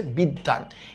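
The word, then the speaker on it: বিদ্বান: নদী এটার উচ্চারণ কি এই যে ব ফলার কারণে দ হবে দুইটা। দ যোগ দ। তার মানে এটার উচ্চারিত রূপ হচ্ছে বিদ্যান। এটার উচ্চারণ রূপ আমি লিখলাম বিদ। তারপরে লিখলাম দান। বিদ্যান।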